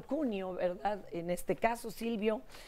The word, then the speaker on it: Cuneo: Está Silvio Cuneo Pareto, debería de pronunciarlo Cuneo, ¿verdad?